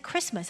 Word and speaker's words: Christmas: Of course, it's Christmas, but we don't pronounce the T inside of that. 그리스도의 날입니다. And instead we just say Christmas.